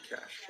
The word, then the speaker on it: cache: Cache is another concept that we use a lot in IT, and it's not cash as in money. Sorry to disappoint you. It pronounces, the pronunciation is actually cache.